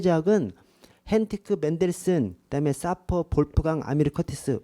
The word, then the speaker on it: 볼프강: 사퍼 쉐이퍼 하고 그다음에 볼프강이 아까 제 말씀드이 독일어로를 왜 발음 하거든요 그래서 볼 볼프강을 영어로 하면 울프강이라고도 해요 그래서 영어식으로 표현하면 울프 강도 볼프 강이랑 똑같은 말입니다 그래서 어 티크 헨티 똑같고